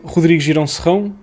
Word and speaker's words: Rodrigo Girão Serrão: I'm Rodrigo Girão Serrão. That's how you pronounce my name if you speak Portuguese, but it's fine.